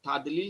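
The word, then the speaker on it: تضليل: তাদ এটা দাদ, তাদ নট তাদ, অনেকে বলেন তাদলিল, এটা দাল না, এটা দাদ। তাহলে এটা তাদলিল হবে না, এটা তাদ পড়তে হবে, খেয়াল করে।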